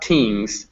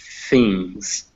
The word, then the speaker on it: things: Not tings or not things, but things. Okay, things.